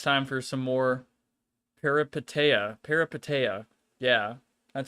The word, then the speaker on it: Peripeteia: Peripeteia.